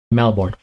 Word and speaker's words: Melbourne: Somebody, if you're ever making a rap and you're trying to think of something to rhyme with born, you have Melbourne.